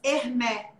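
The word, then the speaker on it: Hermès: aconteceu naquela marca de bolsas hermé que se escreve Hermes né Tem uma bolsa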